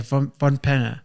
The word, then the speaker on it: von Pannier: How do you pronounce Von it? Pannier. Okay, Von Pannier.